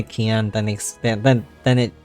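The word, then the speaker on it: Kien: And but people tend to pronounce it as Cayenne. But then when they hear me say Keon, then they then then it like there's like a switch that goes off like, "Oh yeah, okay."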